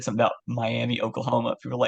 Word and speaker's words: Miami: moved up here there's um a town called miam and it's spelled Miami and I didn't I just moved here so I didn't know any better I said something about Miami Oklahoma people were like no it's Mi I